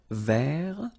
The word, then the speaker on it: vert: So masculine form, don't pronounce the final T. Vert.